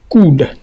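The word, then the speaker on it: could: Mais si OU est suivi par LD, on dit souvent ici que la lettre L, ça c'est la règle phonologique qui dit que le L ne sera pas prononcé. Donc, on laissera la prononciation de L. L ne sera pas prononcée. Donc, dans ce cas, nous allons dire ici coude, coude.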